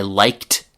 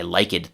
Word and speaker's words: liked: If a verb ends in an unvoiced sound like c-f or s, then the d or e d ending is pronounced t. For example, I liked the movie, not I like it the movie.